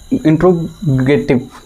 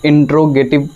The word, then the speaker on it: interrogative: आपके इंडिया में जैसे इंट्रोगेटिव बोल देते हैं, लेकिन इसकी जो जैसे ऑक्सफोर्ड से जब आप इसको देखेंगे, ऑक्सफोर्ड के हिसाब से कि इसकी प्रोनाउंसिएशन क्या होती है, तो उसे कहते हैं इंट्रोगेटिव। क्या है? इंट्रोगेटिव।